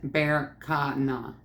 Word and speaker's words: Berkana: So, and with the pronunciation is Berkana. Bacana.